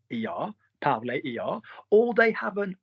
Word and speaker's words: parler: So they either end er, and we don't pronounce the r. So manger, er, parler, er, or they have